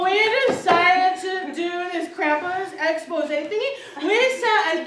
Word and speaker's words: Krampus: Well, it's pronounced Krampus.